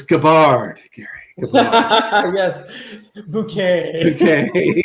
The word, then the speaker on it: Gabbard: Maybe you got lucky and you'll get away with mispronouncing her name. It's Gabbard, Gary.